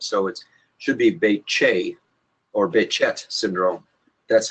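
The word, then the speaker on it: Behçet: accent mark under it's pronounced like CH as in you know chip as a potato chip so it should be baked che or at syndrome that's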